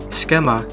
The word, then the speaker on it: Cxema: Cxema (pronunciado esquema) es un organizador ucraniano de raves en espacios urbanos de Ucrania y Europa.